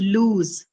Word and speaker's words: lose: So with foot you have the long oo counterpart which is lose right. Foot and lose. First one having the short oo and lose having the long u.